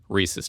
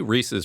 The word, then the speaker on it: Reese's: is a big one Reese's Cups yes Reese's no Reese's Reese's Pieces thank you no not really species then they should spell it differently we know that it rhymes with pieces it is we should